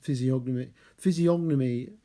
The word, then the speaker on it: physiognomy: Oh, and this dearth of the human physiognomy, very hard to pronounce. It's actually really a silent G, I think, like in gnome, but I always end up saying the G.